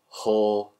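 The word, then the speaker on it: Hoare: His middle name is Haw. H-O-A-R-E, so it's not as bad. It still sounds like... But phonetically, it's still... And also, his surname is Shaw, so it's like Hawshaw.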